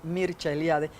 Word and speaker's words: Mircea Eliade: Y tengo que hablar de un estudioso de las religiones, Mircea Eliade, que se pronuncia en rumano, porque es rumano, Mircea Eliade, que tiene muchos libros sobre las religiones comparadas y los mitos y tal.